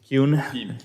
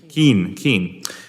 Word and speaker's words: Kuhn: Did I pronounce that correctly? Kuhn? Keen.